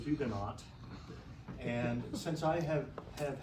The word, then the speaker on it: Huguenot: the actually would say Ugo the French wouldn't pronounce the h or the t uh but the English